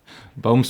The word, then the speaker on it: Boomsma: bang on wonderful and just to confirm the pronunciation of your surname is bomes bomes okay yeah cuz you know I'd said but it's fine I don't mind i' said boo for a year before I asked you know everybody gets it